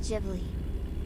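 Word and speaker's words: Ghibli: hurt my feelings also when you hear Japanese people pronounce jibli it is pronounced jibli always go with the OG Creator pronunciation phy fire says well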